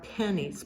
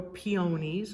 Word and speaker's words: peonies: Don Rayburn to please supply us with these beautiful flowers these are pennies believe it or not or peonies or pineys depending on how you pronounce it yellow wins and